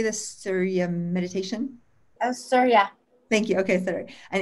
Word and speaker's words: Surya: Oh, Surya.